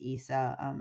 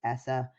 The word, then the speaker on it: ESSA: So ESA, or in child welfare, it's frequently pronounced as ESA. Outside of child welfare and in the school system, it's often pronounced as ESSA, but it's the Every Child Succeeds Act.